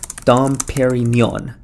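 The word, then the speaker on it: Dom Pérignon: to help me out here how do you pronounce Dom P okay here we go Dom pair e Neon Dom Perignon there hopefully I got that right or I'm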